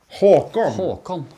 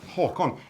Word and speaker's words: Håkon: Håkon. Håkon. H-A-A-K-O-N. Håkon. That's how you pronounce it. And So you again, see? normally the A is A with a dot.